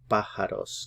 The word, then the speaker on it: pájaros: Put the stress here on the first syllable, pájaros, because the accent mark is there.